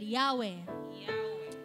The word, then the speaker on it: Yahweh: inhale exhale inhale exhale when pronounced without vowels it actually sounds like breathing and why age inhale